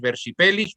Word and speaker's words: versipellis: una palabra muy bonita, versipellis, un cambiapiel. Ostras. La palabra en latín es versipellis o versipellis si pronunciamos a la antigua, y eso significa verso, dar vuelta, ¿no?